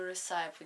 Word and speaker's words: recipe: When you have time for new recipe each day. So yes. So you just want to pronounce this recipe.